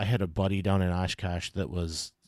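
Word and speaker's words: Oshkosh: a buddy down in ashkash that was like he had his whole basement was covered wall toall you got to say it like Ash Cash like Ash Cash anyway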